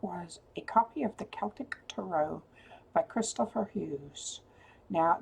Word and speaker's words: Celtic: I have an actual Celtic one and by the way that is how you say it Celtic with a hard C they did not have a soft C sound so Celtic Tara